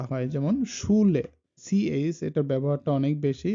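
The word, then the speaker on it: Schule: এটা sounds like SH, আর যেটা বাংলাতে হয় স, তালব্যস্যর মতো উচ্চারণটা হয়, যেমন শুলে।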